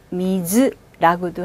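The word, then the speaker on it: お水: 오, 미, 즈. 물 발음 해볼게요. 오미즈. 한 번 더. 오미즈. 자, 이때 물은요. 오자 없이 미즈라고도 합니다. 물은 미즈라고도 하고요. 또는 오미즈라고도 해요.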